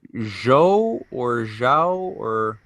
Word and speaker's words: Zhou: you pronounce is it zhou english speaker imagine it as c-h-o-w it's more intuitive for speaking uh english-speaking people to imagine z h-o-u as c-h-o-w and g-e the g